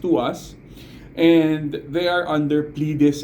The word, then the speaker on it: TWS: they're called twws uh it's they're they're pronounced as to us you know twws pronounced to us and they are under